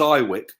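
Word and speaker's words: IWYK: yeah I IW YK we pronounce it as I Wick just for shortening and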